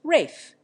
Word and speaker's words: Ralph: making it Irene e Ralph is pronounced Rafe Jerome is accented on